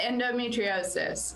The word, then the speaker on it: endometriosis: Yeah, endometriosis.